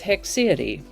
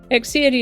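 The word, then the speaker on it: haecceity: e t y and pronounced with hex sound or hick sound although hick or heck they sound pretty much the same to me hix hexi is a noun that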